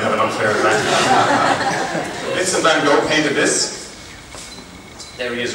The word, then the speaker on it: van Gogh: Vincent van Gogh painted this. There he is right there. Any Dutch people here want to give us the correct pronunciation of his name? Van Gogh.